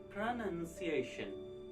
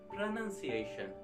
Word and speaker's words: pronunciation: no chance of getting noun sound okay so you have to say pronunciation not pronunciation or pronunciation so you can get it as pronunciation so this is how